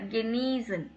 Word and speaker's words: Genießen: ஸோ இந்த simple வந்தால் லாங்கை pronounce பண்ணும். இ வந்து லாங்கு, சிம்பிளுக்கு முன்னாடி வவல் இ வருது இல்லைங்களா, அது கெனீசன்.